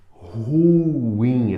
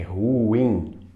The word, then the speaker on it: ruim: ureter é uret uret ruim essa palavra é de sílaba tá eu separo ru in a mais forte é o in ru e não como se pronuncia ruim como se ela fosse monossílaba é ruim Nobel e não Nobel